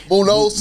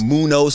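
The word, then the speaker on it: Muñoz: the best Anthony Muno Munos okay that's how you pronounce Munos Munos Munos Munos but you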